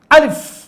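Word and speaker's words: ألف: আলিফ, জোরে বলেন আমার সাথে, লাউডলি জোরে বলতে হবে আপনাদেরকে। আলিফ, দেখেন আলিফ, শেষে এই যে ফা, মানে একটা সফট বাতাস বের হচ্ছে।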